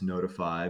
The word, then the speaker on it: Noteefy: a cringey name so you have to forgive us notify but spelled with the T in there n o t fy.